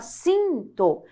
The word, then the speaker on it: sinto: fosse uma só porque você não produzia se um tô você fala sinto então Aqui nós temos